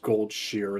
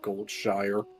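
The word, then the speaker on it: Goldshire: I I still cannot believe that it's pronounced gold shear instead of gold shire.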